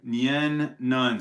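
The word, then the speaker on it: Nien Nunb: Nien Nunn.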